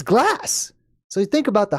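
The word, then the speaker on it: glace: In French, the word for glass, I mean, the word for ice is the word glass. It's just it's spelled differently, but it's glass.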